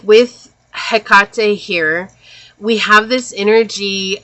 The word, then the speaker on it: Hecate: Hecate. And for a long time, I thought it was Hecate. Like, I really thought that's how you pronounce her name.